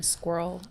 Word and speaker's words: SQRL: But my friend and I, one day, she was like, why don't you call them squirrel bars? I'm like, genius idea. Okay, cool. And we spell it SQRL just because it's shortened.